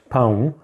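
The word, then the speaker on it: pão: home boom now I've chosen this particular word poem because if mispronounced it can sound like owl which means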